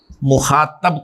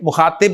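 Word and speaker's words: مخاطب: Second person pronouns को अरबी में, फारसी में और उर्दू में हाजिर या मुखातब कहा जाता है, ठीक है। मुखातिब नहीं, मुखातब।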